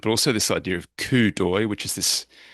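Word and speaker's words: coup d'œil: also this idea of kudoi which is this it's it's not spelled that way. This is a very funny pronunciation term, right? Yeah, it's a French term.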